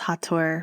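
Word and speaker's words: Hathor: call them the hattors because hator is how you say the name of the goddess hator from ancient egypt and i see them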